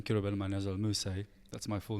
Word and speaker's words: Kirubel Manyazewal Mussie: Kirubel Manyazewal Mussie. That's my full name. Wait, how do I pronounce that? Kirubel Manyazewal Mussie.